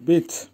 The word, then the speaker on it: быть: Verb বিট বা গ্লাগোল বিট, উচ্চারণ হয় বিট।